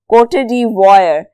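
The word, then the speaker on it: Côte d'Ivoire: कोटेदार think तू प्रणाम आप इसकी प्रनंसीएशन अगर इंटरनेट से सुना चाहे तो सुन सकते हो कोटेड वायर आपने आई को ऑलमोस्ट साइलेंट रखना है ऐसे जैसे वो है ही नहीं इसकी कौन सी चीज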